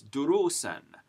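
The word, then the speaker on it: دروسًا: So we would pronounce this durusen, with the tanween al-fath getting its n pronunciation, but the alif not being pronounced.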